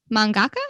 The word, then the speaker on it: mangaka: So let's talk about our favorite mangaka. Is that how you say it? Yes. Mm-hmm. Okay. I guess mangaka.